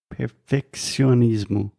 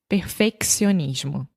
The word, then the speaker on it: perfeccionismo: Perfeccionismo. Perfeccionismo.